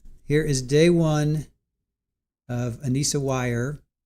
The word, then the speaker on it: Weier: Here is day one of Ana Wire. Anisa wire. That's the way they're pronouncing it. Ana wire.